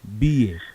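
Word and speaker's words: Biye: B.A. Yeah, B.A. Yes, just forget the first E. And the first E is silent. It's B. Yeah. The pronunciation is B-I-Y-E, but the spelling is B-I-E-Y-E. It's B.A.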